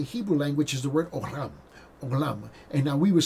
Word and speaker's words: olam: language is the word olam, olam. And now we would spell it O-L-A-M, olam, okay? And now we, in English, we would say olam, okay? But it's olam.